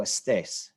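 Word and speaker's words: estés: which syllable of stress the stress syllable is the final syllable so no Estes Stace we want to stress that last syllable on that Estes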